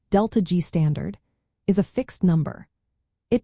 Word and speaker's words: ΔG°: Standard Gibbs free energy change, written as delta degrees, pronounced delta G standard, is a fixed number.